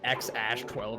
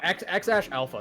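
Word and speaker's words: X Æ A-Xii: I think it's pronounced like X Ash 12 or some shit. No, X Ash Alpha. That's what it was.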